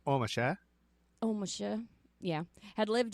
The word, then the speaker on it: Ormesher: probably pronounced omasha oh misha yeah had